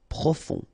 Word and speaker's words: profond: E accent aigu et e accent aigu et décoré décoré profond final not pronounced o n on profond individuel spectaculaire ok don't